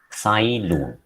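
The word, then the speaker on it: Cai Lun: first done by the chinese court official called sailor that is how it is pronounced so he he was the first person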